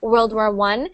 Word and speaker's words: World War I: first world war but when it's spelled like that with the uh Roman numeral so so that little one there there it's actually pronounced well it's actually said World War I and sometimes you'll see it with two of them and that will be World War II okay next one Huggy